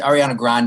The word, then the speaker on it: Ariana Grande: Actually, Ariana Grande is how you pronounce her name, and Ariana she has Grande.